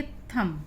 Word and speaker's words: thumb: THUMB पढ़ेंगे थम। इन दोनों में ही यू का उच्चारण आ के रूप में।